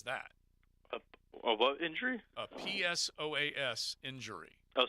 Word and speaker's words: psoas: a what injury a psoas injury oh psoas yeah whatever the p is silent it's like pneumonia so as is a